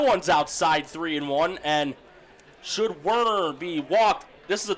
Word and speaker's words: Werner: I see, Norm, you're going with the German pronunciation of Werner. Yeah. Nothing wrong with that. Werner, that's called anglicizing.